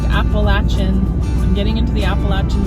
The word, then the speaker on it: Appalachian: And it is pronounced Appalachin.